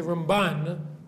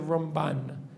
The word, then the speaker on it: Ramban: When we say Ramban, we always put the stress on the second syllable, right?